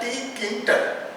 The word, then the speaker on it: Tkinter: So whenever we are going for this one, so we break up this word in three parts. First is T, second is kin and last is your ter. So we pronunciation that tkinter.